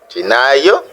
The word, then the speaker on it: gennaio: Nous avons aussi notre consonne G, français, G, qui se prononce J devant E et I. Par exemple, buongiorno, bonjour, giornata, giornata, journée, giovane, jeune, gennaio, janvier.